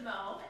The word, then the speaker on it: Mau: And this is probably not a surprise, but you're not the first person that hasn't pronounced my name correctly. So I'm really used to it, not a problem. As she said, my name is Mo, and I have been